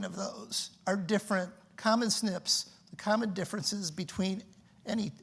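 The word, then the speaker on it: SNP: single Bas changes called single nucleotide polymorphisms uh pronounced Snips and and this is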